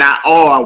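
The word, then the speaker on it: נַעַר: Bayit, which means house. Okay, Melech, which means king. And Na'ar, which means young man, are all accented on the first syllable. So you will come out and put your emphasis on the very first syllable and not the last one.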